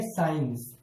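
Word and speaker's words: science: दोस्तों, हमारा पहला नियम है कि यदि एस और सी एक साथ हो, एस के बाद सी आया हुआ हो या सी से पहले एस आया हुआ हो, ये दोनों एक साथ हो, तो वहां पर सी लेटर को साइलेंट रखा जाएगा।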